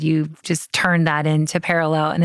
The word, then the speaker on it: Perelel: That's VICTORIA-GIOIA and Perelel Health with one L. I always spell it with two, but it's PERELEL Health.